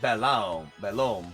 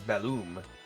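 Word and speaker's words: Belome: ] he was hello on occasion you may see someone pronounce it balam bom but the proper pronunciation is balum take care to pronounce that o correctly what okay dear what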